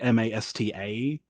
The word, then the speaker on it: Mastor: Like Mastor, I think it has like Master, which is like pronounced like Masta.